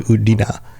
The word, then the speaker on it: Udina: Well, most people don't really know that that's actually the pronunciation. Like, only those closest to him know that that's like. He doesn't like to correct other people, but it's actually Udina. I've heard some people actually pronounce it Udina.